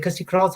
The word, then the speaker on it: Kirstie Kraus: Is it Kirstie Kraus? Have I pronounced it right?